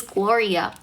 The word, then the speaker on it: Gloria: My name's Gloria.